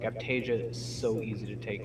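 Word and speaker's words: Aiptasia: Yeah, Aptasia.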